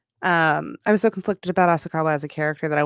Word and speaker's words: Asakawa: Asakawa. That's it. That's how you pronounce that. Asakawa.